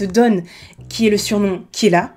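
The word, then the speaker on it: Kira: qui est le surnom Killa, qui est la prononciation japonaise du mot killer en anglais, et qu'il se fait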